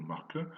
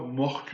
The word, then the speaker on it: mreke: On a également la mention d'un cadeau en REM 1321 qui consistait en un mreke, enfin la prononciation est plutôt marque, Marc mettait un petit de cheval, un enfant de cheval, mettait se dit normalement pour un enfant humain.